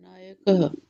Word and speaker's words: नायक: जब सांसों पर चढ़ के बैठ जाते हैं तो ह के जैसा उच्चारण होने लग जाता है। नायक आया ही नहीं। नायक हां ये चलिएगा। नायक नायक बालक सांसे छोड़नी है।